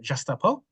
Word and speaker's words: Gestapo: it's in French uh and in French it's pronounced jasto and at that moment